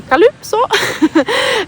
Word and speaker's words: Calypso: And in Denmark, people really say Calypso, they really emphasize the U, and I think this is so cute.